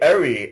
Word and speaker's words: Erhi: you g i g call me ar ar ar ar it's quite easy AR okay AR yes so